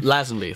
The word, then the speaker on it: Lazenby: Lazenby, thank you.